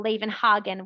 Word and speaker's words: Levenhagen: So Levenhagen would still be pronounced with an H.